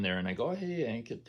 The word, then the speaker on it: Ankit: So luckily, Ankit rhymed with blanket, and I never forgot his name.